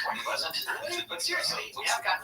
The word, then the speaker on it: Point Pleasant: thing, a quick thanks to everyone sending in pronunciation information on the local towns in this story. Like Point Plaisante, just kidding, it's Point Pleasant.